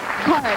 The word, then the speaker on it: Caird: It's Card, actually, yes. Card. C-A-I-R-D, pronounced Card.